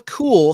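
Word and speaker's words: Kuehl: the actress's name is Sheila cool spelled with a K KU HL and she played Zelda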